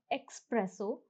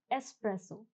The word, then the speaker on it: espresso: Now the pronunciation is not espresso, the pronunciation is espresso.